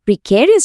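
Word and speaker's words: precarious: আর প্রিক্যারিয়াস শব্দটার মানে হল হাইলি রিস্কি, আনস্টেবল বা গভীরভাবে অনিশ্চিত।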